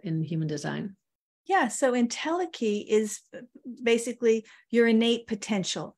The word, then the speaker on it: entelechy: Entelechy, is that how you say it? Entelechy, yeah.